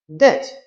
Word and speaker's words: debt: Debt, the B is silent.